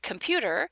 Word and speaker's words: computer: So the word computer would have one on the ka and then one on the pa, because pewter, the pew, is the stressed syllable of the word.